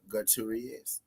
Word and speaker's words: Gutierrez: Our boy now it's your boy Trap Colbert, Chris Colbert versus Rodger Gutierrez.